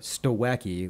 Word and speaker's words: Stawecki: Stawecki, which is Stawe- spelled STAWECKI.